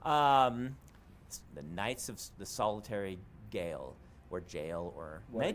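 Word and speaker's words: Gaol: The Knights of the Solitary Gale, or Jail, or Well, may just yeah. be pronounced Jail. I think someone online told me it was just pronounced It's Jail.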